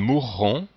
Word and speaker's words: mourront: Ils meurent, ils mourront, qu'ils meurent. Donc on doit entendre les deux R au futur, mourront.